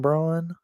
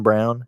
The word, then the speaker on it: Braun: I think I saw Bronny wore these, but this is I think Christian Braun. I mean Christian Brown. His last name's spelled like Braun, but Christian Brown for the Nuggets, I believe, wore those.